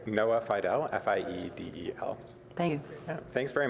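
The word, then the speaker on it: Fiedel: that'd be helpful to our transcriber it's Noah Fido f-i-e-d-e-l thank you thanks very much for uh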